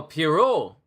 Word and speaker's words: Pierrot: Oh, Pierrot. Pierrot Le Fou. I know I was saying it wrong where they had a OT at the end of Pierrot.